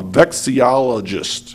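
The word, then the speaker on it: vexillologist: got even separate the paper so I can pronounce it correctly I looked it up and it's true it's called a vexi olist vexi v x i l o logist beist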